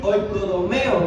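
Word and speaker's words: οἰκοδομέω: El Strong, que se escribe así: oikodomeo, es con tilde al final, ¿verdad?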